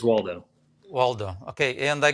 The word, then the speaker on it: Waldo: really important uh austin waldo did i pronounce that right yeah yeah you got it like where's waldo well done okay and